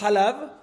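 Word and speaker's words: חלב: Y tenemos dudas si vamos como la pronunciación que es Halab, o si vamos como lo que dice, o si decimos que es Heleb.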